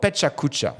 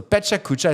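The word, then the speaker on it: Pecha Kucha: do this and I love it it's called Peta cucha so if you've never heard of this this is really cool so Peta cucha is spelled p e c h a k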